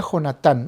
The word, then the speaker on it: Jonatán: David y Jonathan Ok en español se pronuncia jonatán Ok yo estoy acostumbrado